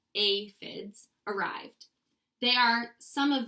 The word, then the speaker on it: aphids: pretty sad day when the aphids pronounced a FIDs arrived they are some